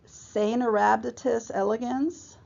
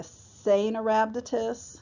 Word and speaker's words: Caenorhabditis elegans: C is pronounced Caenorhabditis elegans. The C is soft, so you say a Caenorhabditis, not Caenorhabditis.